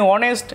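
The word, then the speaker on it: honest: যে প্রথম লেটারটি সবটাই কনসোনেন্ট, সবটাই কনসোনেন্ট, কিন্তু উচ্চারণের ক্ষেত্রে আমরা দেখি যে এখানে হর্স, এখানে অনেস্ট, এখানে আওয়ার। আবার যদি বলি হ্যান, সব জায়গায় এসের উচ্চারণ কিন্তু একমত হয়নি, সব জায়গায় উচ্চারণ একমত হয়নি। যেমন অনেস্ট যখন বলেছি তখন কিন্তু এসের উচ্চারণটা হয়নি, কিন্তু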